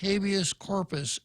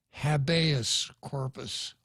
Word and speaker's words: habeas corpus: it means it's actually if you were a Latin scholar you'd pronounce it habeas corpus corpus but of course one of the first things you learned in law school is how to mispronounce all the Latin terms so abeyance corpus means